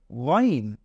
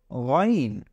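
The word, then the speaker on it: غين: একটা নুক্তা লাগিয়ে দেই তাহলে এটা হয়ে যাবে গাইন এটা হয়ে যাবে গাইন তাহলে প্রথমে আমরা পড়লাম আইন এরপরে এখন পড়ছি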